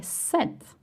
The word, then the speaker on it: cet: If the masculine noun starts with a vowel or H, then you say set.